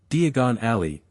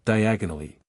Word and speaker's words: Diagon Alley: It's Diagon Alley, not diagonally.